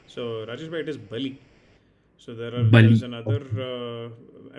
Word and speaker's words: Bali: So Rajesh bhai, it is Bali. So there's Bali. another. I mean, some pronunciations for Vali, maybe in the Bengali versions and all, it will be Bali, right?